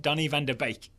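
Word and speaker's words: Donny van de Beek: have a go it Donny van deake yeah it's well he just said it's bake pronounced like baking I just want to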